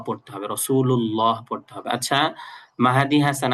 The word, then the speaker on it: রাসূলুল্লাহ: মুহাম্মদের এখানে হলো হাটা ভালো করে উচ্চারণ করতে হবে। আর লাস্টে হল রাসুলুল্লাহ এই জায়গায় আল্লাহ শব্দের এখানে ল পড়তে হবে। রাসূলুল্লাহ পড়তে হবে।